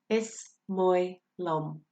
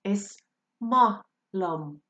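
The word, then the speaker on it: Is maith liom: Is moi lum. You can also hear that phrase pronounced is ma lum.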